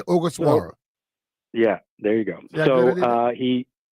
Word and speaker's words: Ogasawara: I'll let you tell me how to pronounce it. All right, I believe I have it finally. It's Shinosuke Ogasawara. Okay. Ogasawara. What do we need to Ogasawara. know here? Shinosuke Ogasawara.